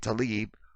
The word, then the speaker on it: Tlaib: I've never seen this word spelled like this. It's Talib. I don't know where they get this Tlaib.